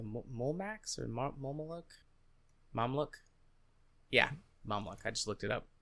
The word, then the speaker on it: Mamluk: Yeah, Mamluk. I just looked it up to make sure I was pronouncing it right.